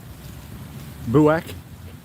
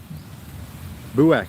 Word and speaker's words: Buak: Buak. Buak. That's how you pronounce it, by the way.